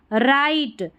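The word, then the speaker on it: write: जब भी डब्ल्यू आर साथ में रहता है ना तो स्टार्टिंग में इस तरीके से तो डब्ल्यू साइलेंट रहता है तो यहां पर देखिए राइट में साइलेंट है डब्ल्यू राइट something something every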